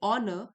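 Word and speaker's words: honor: Habits of procrastination, procrastination और punctuality further show how वी ऑनर, एक silent है, हाउ वी ऑनर time.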